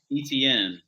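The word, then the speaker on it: Travis Etienne: shout out to Tom and waiter men who pronounces Travis etn as Travis ET he goes way overly Fancy with the guy's name and like every week we're like we correct him we're like etn and he's like ET and so so yeah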